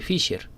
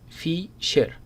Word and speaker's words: Fisher: vamos a llamar el coeficiente de asimetría de fiser Cómo se pronuncia esta palabra Fisher listo leamos un poco la teoría es el